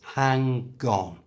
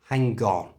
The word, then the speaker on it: hang on: for a short time hang on notice that to say it naturally move the G from the end of hang to the front of on so it becomes hang gone hang onone you try hang on